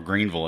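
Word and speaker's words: Greeneville: You've got Viking Mountain in Greenville, or Greenville as I would pronounce it actually.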